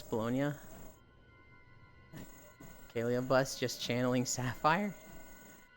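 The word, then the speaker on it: Bologna: the USA says it baloney is the French pronunciation and it's named after a place in Italy so the proper way is bolognia I don't know what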